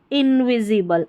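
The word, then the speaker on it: invisible: इन VIV, SI को C नहीं पढ़ना है, Z पढ़ेंगे। ठीक है, INVIZ और BLE बल, इनविजिबल, इनविजिबल नहीं पढ़ना है, इनविजिबल पढ़ेंगे। ठीक है, S का उच्चारण ज है यहाँ पर, तो इनविजिबल।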